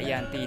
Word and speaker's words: Giyanti: yakni di desa Janti dalam pelafalan Belanda ia tersebut dibaca Yanti dan secara tertulis ya